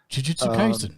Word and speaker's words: Jujutsu Kaisen: Well, I keep on doing that whole English thing of trying to put emphasis on syllables, and she has to remind me that that's not a thing.